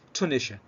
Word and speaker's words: Tunisia: فتونس as a capital is Tunis, but the country is Tunisia. فتونس العاصمة تنطق تونس باللغة الإنجليزية، أما الدولة فهي تونيشيا اللي هي تونس كدولة.